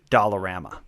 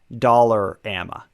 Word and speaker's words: Dollarama: through is pricing of Dollarama uh first of all let's get a pronunciation check I've always called it dollar AMA like dollar how do you say